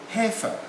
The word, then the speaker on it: heifer: family would be called heifer like that that's correct i silent heifer yeah as you said